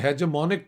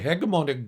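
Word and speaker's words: hegemonic: Second world war के बाद द हेजेमोनिक power और द हेगमोनिक, both words are correct ji pronunciations, was the United States of America and Russia was second to that.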